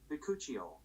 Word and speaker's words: Bakuchiol: Bakuchiol.